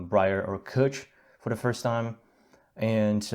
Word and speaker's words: cwtch: to it so like when we said kutch which is spelt c-w-t-c-h dot i-m is the url i haven't spent any